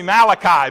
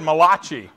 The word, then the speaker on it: Malachi: to the book of malachi it sounded italian to me the book is actually malachi but i've butchered that and said malachi very very you know